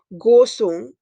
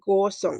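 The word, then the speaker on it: Kaohsiung: This is pronounced as Gosong. Gosong. It's like Gosong.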